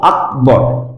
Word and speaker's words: আকবর: এখানে এই ক এর নিচে হসন্ত, মানে ক এর সাথে অযুক্ত নেই, সুতরাং এটাকে আমরা উচ্চারণ করব আকবর এভাবে।